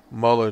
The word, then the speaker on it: Mueller: out there to demonize Mueller himself or Muller model let me pronounce his name pronounced in German way anyway Muller to dehumanize him and